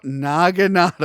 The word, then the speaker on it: naginata: That's why I had to say it very very slow cuz I'm just like, "No, naginata."